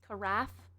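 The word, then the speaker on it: carafe: The C is silent. It's an arf. An arf. Caraf. Like giraffe. Caref.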